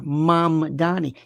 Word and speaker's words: Mamdani: Who would you vote for, Curtis, Cuomo, or Mamdani? They can't even pronounce his name. It's Zoran. Zohran. 2 syllables. Zoran. Mam or Mam Dani. 3. Mamdani.